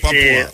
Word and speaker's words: Papua: How you pronounce it? Papua? Yeah, West Papua is... Papua.